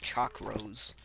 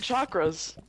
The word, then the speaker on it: chakras: me clearing my chakras oh chakras you pronounced it weirdly i know what chakras are you guys said like chalk rose wasted chakras okay i'm finally at